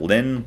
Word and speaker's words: ln: that says ln and we pronounce that lin like the girl lynn this one in my